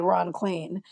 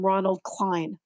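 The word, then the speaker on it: Ron Klain: has any confusion about how you say ron clean it looks like rain and spain and plane and maine and vain and it rhymes with all of those things and then posobix stopped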